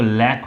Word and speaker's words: lakh: लाख की अपने यहाँ 2 स्पेलिंग लिखी जाती हैं इंडिया में, या तो LAC या KH। दोनों स्पेलिंग्स सही हैं, या इसके दो प्रोनाउंसिएशन होते हैं, या तो लैक होता है या लाख होता है।